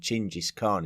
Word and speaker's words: Genghis Khan: I think when we were talking about the pronunciation, but using the pronunciation Chingis Khan instead of Genghis Khan, because it was much more in line with the Mongolian version of his name.